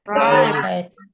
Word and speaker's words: write: Right. Nah kalau write ini W-nya yang nggak usah dibaca.